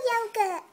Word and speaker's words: Yogurt: me oh hey yogurt my name's yogurt but I pronounce it yogur I don't like it